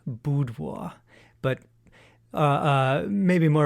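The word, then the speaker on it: Bydło: pictures at an exhibition that is the polish pronunciation boudoir but uh uh maybe more of our listeners would be familiar if i said bidlow b-y-d-l i've always heard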